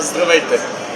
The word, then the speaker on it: Здравейте: Здравейте. Здравейте? Здравейте is hello, and welcome is добре дошли. Well, that's hard. Здравейте? You can say just здравейте. Здравейте. Здравейте. Здравейте.